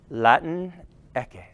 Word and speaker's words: Latinx: the X in English, though Spanish pronunciation of Latin and X can combine into a smooth, watch this white boy do it, Latin-equis. Yeah! Which rhymes with Dos Equis, the Mexican beer. And that's how you're going to remember it, because it rhymes with Dos Equis, yes.